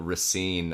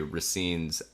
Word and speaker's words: Racine: So they the DC Attorney General Carl Racine, I believe is how it's pronounced.